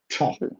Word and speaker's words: 差: so good 差 okay how was it pronounced again 差 like almost like tea but it's fourth term 所以你可以说这个 this tea 这个茶很差差这个茶很差，差你可以说 This tea is very bad.